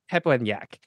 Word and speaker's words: Pepelnjak: your last name wor every American does because you guys have different letter to vowel rules than most of Central Europe so you can't get it right well I appreciate the